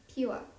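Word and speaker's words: Pyua: Because PYU makes the pew sound.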